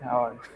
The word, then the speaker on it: hours: আমরা বানান করি এইচ ও ইউ আ, কিন্তু উচ্চারণ করতেছি আওয়া, এইচ উচ্চারণ করি না।